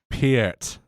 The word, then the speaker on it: Peart: Also, just before you get angry messages, you mispronounced his last name. It's Peart? Neil Peart. Peart.